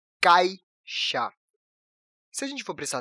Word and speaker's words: caixa: A letra "I" é enfraquecida na pronúncia "cai", e no dia a dia nós falamos "caxa", e não "caixa". Bom, a sílaba "ca" é a sílaba tônica, a sílaba forte. E a letra "I" dentro dessa sílaba acaba saindo um pouco fraca na hora de pronunciarmos.